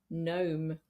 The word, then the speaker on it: gnome: a word for example gnome or Nat and in this case the G is just there to look pretty we don't pronounce it it's pronounced n gome